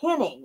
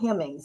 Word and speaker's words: Hemmings: He called her Henning, actually, not Hemmings. He mispronounced her name.